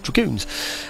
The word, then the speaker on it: dragoons: We had, during the English Civil War in our country, we had dragoons, I should say, pronounce it properly, dragoons. And it was D-R-A-G-O-O-N-S, that's dragoons.